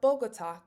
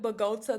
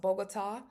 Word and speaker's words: Bogotá: We should not pronounce it bota. That might be what it looks like, but it's pronounced bogota or bogota with an accent mark over the a at the end.